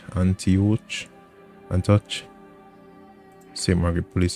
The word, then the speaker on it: Antioch: think I'm butchering that name how do you pronounce it anti-ach Antioch and touch St Margaret police Center the parking